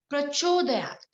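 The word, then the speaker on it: प्रचोदयात्: The pronunciation Dhiyo yo na. Prachodayat.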